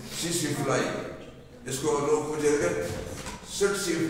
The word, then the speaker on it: tsetse: तो ये अब ये लफज़किसी है तो हम टी साइलेंट है यहां भी टी साइलेंट है सीसी फ्लाई इसका नाम है इस